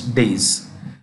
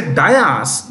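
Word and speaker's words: dais: often say race platform is Dias it is days this is the right spelling these are right spelling how do you pronounce it these day days say that this is days okay when you say dayas the spelling changes which is incorrect Spelling die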